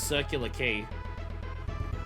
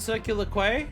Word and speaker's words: Circular Quay: Isn't it Circular Quay?" And they were like, "No, you pronounce that word key."